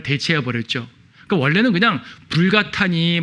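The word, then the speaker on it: Vulgata: 라틴어 불가타부터 벌게이트라 그러죠. 영어식으로 읽으면 벌게이트고 라틴어 그대로 읽으면 불가타역이라 그래요. 불가타 성경. 우리는 가능하면 불가타, 그러니까 원래 발음으로 사용하려고 합니다.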